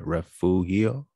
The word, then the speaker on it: Refugio: they needed it however there are at least three common pronunciations of this name referral referee referral refurial right refugio there's a lot happening